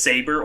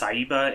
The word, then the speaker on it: Saber: I just happen to have what is Saber, or I guess like it's pronounced Saiba in Saber.